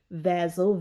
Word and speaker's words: vassal: n like sue's s u z e rain vazzle v-a-s-s-a-l covenant now suzerain if you go and